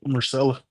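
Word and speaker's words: Myrcella: Marcella.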